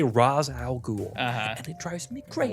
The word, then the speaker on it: Ra's al Ghul: Ra's al Ghul. Ra's al Ghul. It is not Ra's, Christopher Nolan. Oh, does he say that? In the movies, they say Ra's al Ghul.